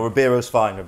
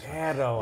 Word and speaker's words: Ribeiro: No, Riberio's fine, honestly. I've had Riberio, I've had Ribeiro, I've had all sorts, but Ribeiro, yeah. In Portuguese, I think they like take the R out as a Ribeiro.